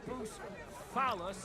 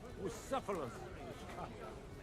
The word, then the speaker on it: Bucephalus: What kind of name is Bruce Phallus anyway? It's pronounced Bucephalus.